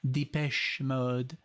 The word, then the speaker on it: Depeche Mode: somebody said like this is the way you pronounce them because they're from Canada or from France or something Depeche Mode and I'm like okay so the patch mode